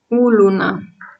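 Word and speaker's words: olona: You put the tonic accent on the first O. Ulna, uluna.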